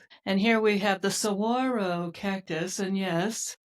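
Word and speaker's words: saguaro: And here we have the sawro cactus. And yes, that's how you say it, sirro. Even though they did put that pesky G in there.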